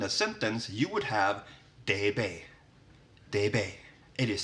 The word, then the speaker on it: D: And then we have D, which in Swedish is de.